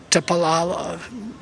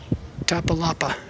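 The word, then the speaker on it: Iztapalapa: Tapalala, whatever. It's not pronounced that way. It is Tapalapa.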